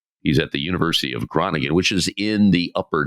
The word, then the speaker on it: Groningen: Our featured guest today on behalf of Labor 131 is Jason Resnikoff at the University of Groningen. Is that the best way to pronounce it?